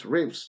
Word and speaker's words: RIVS: was a problem because phonetically it's Rivs.